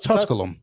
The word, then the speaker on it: Tusculum: Is it No, it's Tusculum.